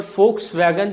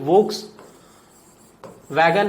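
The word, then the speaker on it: Volkswagen: वी को German में F pronunciation होता है. फॉर एग्जाम्पल फोक्स वैगन, जो आप गाड़ी देखते हैं वो वोक्स वैगन नहीं है. ठीक है, वो फोक्स वैगन है बिकॉज वी का प्रोनाउंसिएशन F है जर्मन में.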